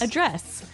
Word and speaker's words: address: Address. Now, if you notice, it's spelled the same way as address, That's right. but you pronounce it differently. So the verb address has the stress on the second syllable.